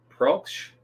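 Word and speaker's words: Proksch: Um, and Mark Pros, how do you pronounce it? Prooch. Mark Prooch is the actor who plays uh Colin Robinson.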